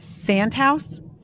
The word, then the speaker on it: Santhouse: Sand house. Yes, Santa house.